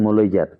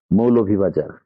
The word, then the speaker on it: মৌলভীবাজার: তাই আমাদেরকে নিজের জেলার নাম সুন্দরভাবে অ্যাকচুয়াল যে প্রোনাউন্সিয়েশন ওইটা মেনটেন করে বলতে হবে, তাহলে আরো বেশি ভালো লাগবে। মৌলভীবাজার, এটি আমাদের জেলার নাম। এটাকে মলইজার বা মইলজার এগুলো বলা থেকে দূরে সরে আসতে হবে।